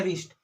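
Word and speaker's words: wrist: उसके बाद यहाँ पर भी देखिए, है ना, डब्लू के बाद आर आ रहा है तो इस डब्लू को नहीं पढ़ेंगे तो क्या हो गया, रिस्ट, है ना, क्या हो गया, रिस्ट।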